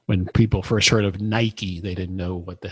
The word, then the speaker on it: Nike: look at it and you're going to say Nike. That's right. Like rhymes with Mike.